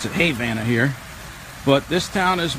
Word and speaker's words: Havana: there was a town called Havana Florida they pronounce it Havana here but this town is where the uh